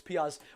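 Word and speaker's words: Pears: Is it Pez or Piaz? Or Pez? Pez? Do you know what it is? Just for the mick, right? I'm going to say Pez and someone's going to say, it's not Pez, it's Piaz.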